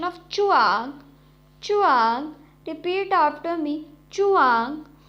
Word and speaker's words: zhuang: The next Pinyin is ZHUANG, has a pronunciation of chuang, chuang.